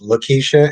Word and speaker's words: Lakeisha: myself about how I couldn't pronounce Lakeisha in the chat, and it rhymes with Nakisha, and I just got that today. Um, no, it's really good to see you again, Lakeisha.